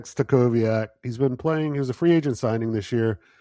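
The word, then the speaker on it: Stachowiak: for Latvia and Wojtek, you'll have to make sure I pronounce this right, Stakavoyov? So close, my friend. Close, my friend. That one. Yeah, Wojtek Stakowiak.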